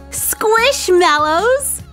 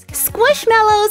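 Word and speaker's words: Squishmallows: ton of different ways but they're kind of like marshmallows I mean they've even got a picture of a marshmallow right there so we should call them squish mellows squish mellow marshmallow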